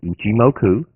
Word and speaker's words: Ichimoku: So, it's ichimoku. Ichimoku. Ichimoku. Now, I'm not sneezing. That's just how you pronounce it.